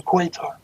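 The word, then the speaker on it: Qatar: Untouchable because they're in quatar okay or Cutter depending on how you want to pronounce it yeah right I never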